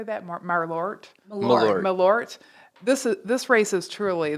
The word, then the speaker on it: Malort: Malort.